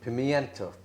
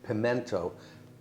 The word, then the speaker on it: pimiento: And just for a bit of color, I'm going to add some pimiento. Now, some people pronounce that pimento, ignoring the I.